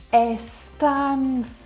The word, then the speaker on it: Αισθάνθηκα: Αισθάνθηκα. Be careful here, we have two monsters. Αισθάνθου. Αισθάνθηκα. Αισθάνθηκα.